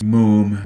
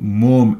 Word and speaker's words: Moom: All right, the next thing we're going to do here is figure out how to use Moom with the mouse.